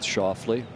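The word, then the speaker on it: Schauffele: He's asking for it to land softly, which for our friends in Memphis rhymes with Schoffley.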